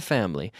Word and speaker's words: family: me part of the family we could say they don't consider me to be part of the family as well the family family family we say that with two syllables family we don't say